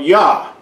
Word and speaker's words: Yah: it was originally pronounced the Y yod and the hey gives us pronunciation of yah now yah is found